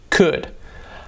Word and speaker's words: could: We don't pronounce the L. Like in could, yo podría, is cold, no, could.